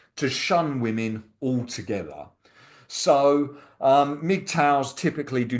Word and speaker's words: MGTOW: Now you pronounce men go their own way as MGTOW.